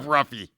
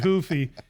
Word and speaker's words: Ruffy: If I was to say, if I screwed up Ruffy, I give up. No, he's Brazilian, so he pronounces it Hoofy.